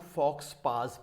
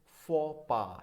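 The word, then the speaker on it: faux pas: इसको तो काफ़ी लोग फॉक्स पास पढ़ते हैं. फॉक्स पास होता है बट नॉट द फॉक्स पास. Exact pronunciation क्या है? फो पा है. प्रोनाउंसिएशन इज फो पा.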